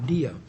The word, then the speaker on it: Dia: name of the case was, we pronounced it Dia. It's spelled D-I-A, where the immigration judge had denied